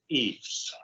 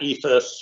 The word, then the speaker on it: EIFS: we be pronouncing that it is definitely pronounced eaves not ethus or ifas or or some of